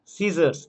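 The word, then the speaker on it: scissors: সিজার্স, এখানে কিন্তু C silent.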